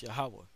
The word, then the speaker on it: Yahawah: one true power yaha and that's how you pronounce that name it's yahawah that's the name of the heavenly father okay